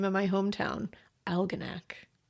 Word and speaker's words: Algonac: Yes, you can use my name, and I'm looking forward to hearing you pronounce the name of my hometown, Algonac. Like almanac. Like Algonac.